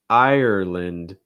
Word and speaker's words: Ireland: ireland ireland so you it almost sounds like three syllables i or i like in like time or fine i notice that my jaw just kind of snaps closed ir ir ireland and again same thing that we just saw with england ireland same thing with the lind okay it gets reduced instead of land it's more lint ireland ireland also make sure you're stressing the first syllable it's just the i